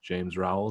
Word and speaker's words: James Rowell: I'm kind of new to the whole Twitter scene myself, but it's DM James Rowell, just as it's spelled here.